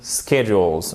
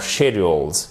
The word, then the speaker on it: schedules: always dependent on production schedules or schedules, comme vous voulez. Schedules, c'est plus la présentation britannique. Schedule, c'est plus la présentation américaine.